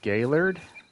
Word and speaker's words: Gaylord: It's pronounced Gaylord.